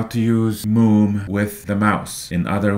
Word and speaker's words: Moom: All right, the next thing we're going to do here is figure out how to use Moom with the mouse.